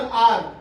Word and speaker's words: hour: अ यूज होगा, लेकिन ये आवर एक एच यहाँ साइलेंट होता है और इसका प्रोनाउंसिएशन आर होता है, आर इन एन आर।